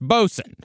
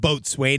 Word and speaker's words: boatswain: And yes, we're now well aware that the word boatswain is generally pronounced bosun.